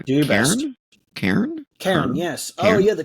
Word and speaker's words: Cairn: I don't know how you pronounce it. It's Do your best. Cairn? Cairn? Karen, yes.